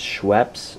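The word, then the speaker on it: Schweppes: say this in the last video but it's scheps and it's the club soda that we're using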